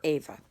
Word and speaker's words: Ava: is starting to become some people call it eva but i don't like that i prefer ava okay spelled the same